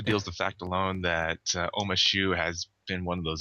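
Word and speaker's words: Ouma Shu: Oma Shu.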